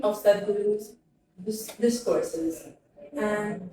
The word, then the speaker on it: Sadhguru: ياخذون اسمه هذا زي Sadhguru. Sadhguru. He's an engineer, yogi, and mystic. He's an engineer, yogi, and mystic. My research is titled Critical Discourse Analysis of the Semantic Lexicon of the 3 of Sadhguru's discourses and 3 of Sadhguru's speeches.